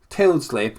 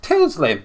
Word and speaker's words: Tildesley: Famous commentator Clive Tilsdale. How do you say him? Clive Tildesley. Tildesley.